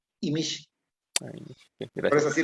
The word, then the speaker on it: Imix: Ok, en maya sí decimos Imish.